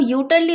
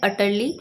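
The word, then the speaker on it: utterly: इसको आप यूटरली मत बोल दीजिएगा, यहाँ पे जो यू लिखा है उसे हम अ प्रोनाउंस करते हैं, तो करेक्ट प्रोनाउंसिएशन होती है अटरली।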